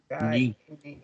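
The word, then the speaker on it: knee: No sé si alguien sabe cómo se dice rodilla en inglés. Si alguien sabe, pues obviamente que me lo diga. ¿Ah? Ni. Ni, ¿cierto? Y se escribe con K, ¿sí o no? Con K, ¿no?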